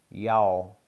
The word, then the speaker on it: y'all: y a l l y'all and really really a true Southerner says it like y a w y'all not y'all you can't really it's real difficult to pronounce them L's when uh you say